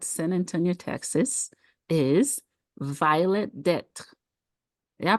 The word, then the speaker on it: Detre: Antonio, Texas, is Violet Detre. Yeah, I pronounce it right? Yeah, you can pronounce it that way, or the Americanized version, which is Detre.